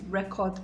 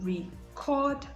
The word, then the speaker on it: record: saying i want to record my program that is absolutely wrong so it should be i want to record my program because the stress should be on the second syllable for the verb and that is how